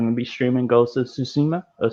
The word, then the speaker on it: Tsushima: streaming goes to tsuma i have a hard time pronouncing that but it's like actually no it's not even susima uh the actual japanese people have been saying suzuma okay yeah cause they talk a little faster i got you yeah